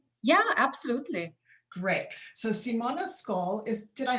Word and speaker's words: Ksoll: So Simona Ksoll did I say your last name correctly? How do you say it? It's Simona Ksoll. Simona, Ksoll, like an X.